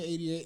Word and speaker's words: Eightyate: yeah, 88, and it's spelled, but the 8 it's spelled ATE. ATE. So 8. Yeah.